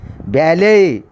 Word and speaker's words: ballet: and especially for ballet, B-A-L-L-E-T, ballet means one type of the dance, T is a silent, ballet.